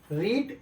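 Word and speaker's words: read: मतलब कहने का मतलब रीड जो शब्द है आपका, रीड जो वर्ड है उसका स्पेलिंग वही रहता है, लेकिन केवल उच्चारण उसका अलग होता है।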